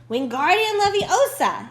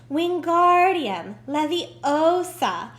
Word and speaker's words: Wingardium Leviosa: having much more luck Wingardium Leviosa he shouted waving his long long arms like windmill you're saying it wrong Harry heard of mine Hermione snap its Wingardium Leviosa make the guard nice and long you do it then